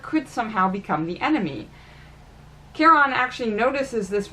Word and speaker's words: Charon: The mistake he made with Mr. Charon is the mispronunciation of his name. Because he called him Chiron, as in the centaur, and the names are very close, well, Charon didn't appreciate it.